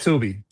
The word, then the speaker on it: Tube-E: And by the way, for the audio listeners, Tube E, it's TUBE dash E movie, right? Yeah, pronounced Tubi. Pronounced Tubi movie.